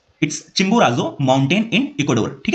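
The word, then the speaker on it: Chimborazo: study किया चिंबोराजो ठीक है थोड़ा डिफिकल्ट है प्रोनाउंस करने में इट्स चिंबोराजो माउंटेन इन इक्वाडोर ठीक है कहां पे लेटस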